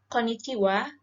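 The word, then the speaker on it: こんにちは: caranya bunyi itu Konnichiwa bukan berarti kita nulis hiragananya itu juga pakai WA yaitu enggak tapi pakai h ya teman-teman jadi oleh di hiragananya itu tulisannya konnichi Ha tapi kalau kita bacanya itu Konnichiwa oke Hai nah Konnichiwa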